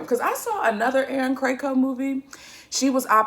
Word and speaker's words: Krakow: craig first of all i've been pronouncing erin krakow's name wrong i've been calling her cacao and i'm so sorry aaron if you see this i'm so sorry um but the aaron cracow and tyler hines film